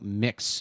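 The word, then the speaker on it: Mx.: now I go by Mix Beeman. It sounds like MIX Beeman."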